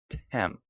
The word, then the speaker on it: Thames: Tem. These live streams just turn into how can Adam pronounce things horribly, and how can he get